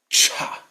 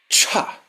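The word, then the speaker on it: छ: This should be really strong. Cha. The energy has to come out. The prana has to come out when you say it. Cha.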